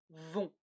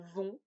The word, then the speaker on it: vont: le verbe duverne faire quand ils font ils vont le thé ne se prononcent pas et c'est nasa ils vont elles vont on répète je vais tu vas